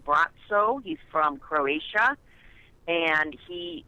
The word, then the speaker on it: Braco: It's pronounced Bratso.